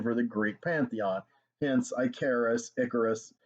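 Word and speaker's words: Ikaris: the greek pantheon hence icarus it is pronounced like harris that's clear in all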